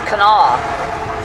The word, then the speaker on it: Kanawha: but it's Kanawha. That's the way they pronounce it.